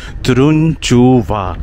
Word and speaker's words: Turunçova: ये जो तुरुनचुवा गांव है, इसका नाम फिर से प्रोनाउंसिएट करता हूँ, तुरुनचुवा, ठीक है।